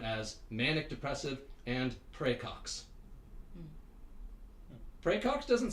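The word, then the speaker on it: praecox: r a e CX like like pre yeah like in the last name Cox he's got to case of pre Cox PR pray for his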